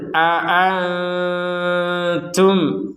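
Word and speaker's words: أأنتم: kan bukan yang itu Jadi kita tetap membacanya dua-duanya ini harus jelas A a a a jadi tidak ada yang di samarkan Nah tidak ada yang dilemahkan Nah dua-duanya harus kuat Qul aantum alamu amillah ada mim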